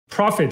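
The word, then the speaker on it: prophet: 是用了另一个单词 profit，就是 P-R-O-P-H-E-T，先知的那个词。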